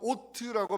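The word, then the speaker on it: אות: 자, 표징이라는 단어 히브리어로 오트라고 발음하고요, 헬라어로는 세메이온이라고 발음합니다.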